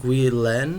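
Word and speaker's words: Guillén: It's named after a poem by Nicolas Guillen, I guess you pronounce it.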